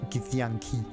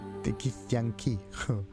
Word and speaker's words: Githyanki: Okay, it's like Gith and Yankee. Sweet. The Gith Yankee. Gith Yankee. Gith Yankee. If you pronounce it very, very weirdly, it sounds like idea or memory. In German. Gedanke. Githyanki.